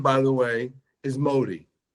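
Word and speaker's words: Mahdi: looking for whose name by the way is Modi m a HD M ahdi when you Google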